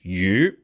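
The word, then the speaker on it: 鱼: The word fish in Chinese is yu, and it sounds like the word for surplus, meaning like a surplus of money.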